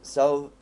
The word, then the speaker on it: selv: Selv if you see it next to selv they are sent. If you see it next to selv, the word selv, you're not supposed to pronounce the V.